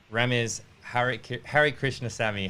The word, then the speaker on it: Rames Harikrishnasamy: I'm Flynn I'm delighted to be here with Rama's hurich Harry Krishna Sami how are you remember I am good thank you for pronouncing my setting right you're too kind yeah